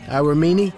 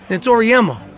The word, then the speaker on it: Auriemma: You ever think about maybe coaching men, Auriemma? Nah, I mean, got a good thing going, you know. It's Auriemma.